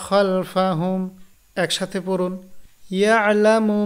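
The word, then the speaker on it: يَعْلَمُ: এরপর ইয়ালামু মা বাইনা আইদিহিম ওয়া মা খালফাহুম, ইয়ালামু মা বাইনা আইদিহিম ওয়া মা খালফাহুম। বানান করুন, ইয়া আইন জবর ইয়া, লাম জবর লা, মিম পেশ মু, ইয়ালামু, ইয়ালামু, মা বাইনা,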